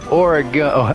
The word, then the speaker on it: Oregon: Yeah, it's Oregon. Oh, you pronounce it Oregon.